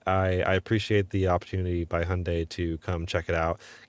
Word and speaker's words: Hyundai: There's that's how you say it, Hyundai, almost like Sunday.